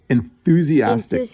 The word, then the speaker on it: enthusiastic: That th can kind of trip you up a little bit.